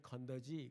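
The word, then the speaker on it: 肯德基: 중국말로는 건더지 그래요. 제가 그걸 보고 뭐 건더기 먹으러 갔나. 근데 중국 발음이 그래요.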